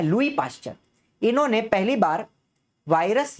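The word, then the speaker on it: Louis Pasteur: अब ये जो शब्द है वायरस, ये वायरस शब्द पहली बार किसने इस्तेमाल किया था, लुई पाश्चर। एस साइलेंट होता है, मेरी बात समझना, लुइस नहीं बोलना है, लुई पाश्चर।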